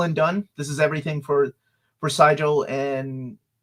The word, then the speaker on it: Sigil: We even it's actually pronounced Sigil, not Sigil.